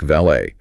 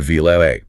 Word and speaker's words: valet: And we see the exact same preservation in a word like valet. The person parking your car isn't a val ET, they're a vil A.